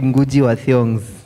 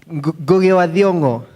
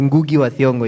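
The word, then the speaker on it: Ngũgĩ wa Thiong'o: But you can also pronounce it as Ngugi wa Thiongo if you're not a Kikuyu. But the correct Kikuyu pronunciation is Goge wa Thiongo.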